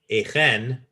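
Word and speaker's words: Achan: it's probably a guttural there isn't a CH in Hebrew so I when I see a CH I immediately think a guttural or a hay which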